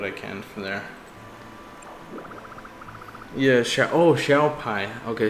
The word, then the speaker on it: Xiao Pai: Yeah, Xiao Pai. Okay, so that's how it's pronounced, not Xiaoping.